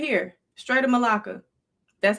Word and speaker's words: Malacca: Right here, Strait of Malacca.